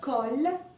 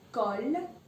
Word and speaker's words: colle: Well, there's no change. So you will pronounce it exactly as it is. No Y sound, okay? So, example, balle means a ball, balle. And you have colle, which means glue, so colle.